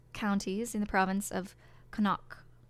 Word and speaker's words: Connacht: It's part of the County Mayo, one of the five counties in the province of Connacht. Connacht?